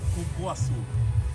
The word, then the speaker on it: cupuaçu: Cupuaçu. Well, that's how you say it in Portuguese, cupuaçu, or something like that.